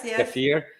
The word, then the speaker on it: kefir: So I drink myself kefir, like some people pronounce it kefir.